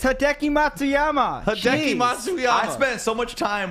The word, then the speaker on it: Hideki Matsuyama: on hideki congratulations it's a hard name to pronounce all right it's hideki matsuyama i spent so much time with that last